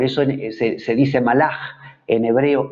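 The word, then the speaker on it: מלאך: caja casas o fit es una letra k pero que al final de palabra suena como una j por eso es que se dice málaga en hebreo y no malak aunque esa última palabra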